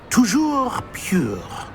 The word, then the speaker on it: Toujours pur: I order you to pronounce it for me. Oh, Master knows that Scrope's French is most pitiful. Very well. Toujours pure.